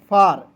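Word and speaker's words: far: उसके बाद देखें दोस्तों यहां पे एफ ए आर क्या पढ़ेंगे? फेर नहीं पढ़ेंगे। एफ का फ ए आर है तो आर की मात्रा लगाएंगे। हो जाएगा फार। एफ ए आर को दोस्तों पढ़ेंगे फार।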